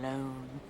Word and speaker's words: Lone: such a good name tom lone rhymes with cone phone bone not that rhyming is